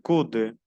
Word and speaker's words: coude: Le bras, le coude, le coude, que es el codo, le coude, o U se pronuncia U, le coude, le dos, le dos,